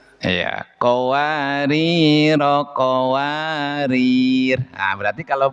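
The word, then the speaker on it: قواريرا: Terus yang keempat, jika waqaf di qwari ro yang kedua rnya dibaca panjang pakaji. Jika wakaf dikwari ro yang kedua rnya dibaca sukun maaf dibaca sukun. Iya. Qawar.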